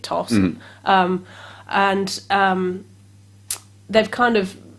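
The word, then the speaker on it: Thos: he's got this lovely friend called toss it's t-h-o-s and i'm pronouncing it toss and um they've kind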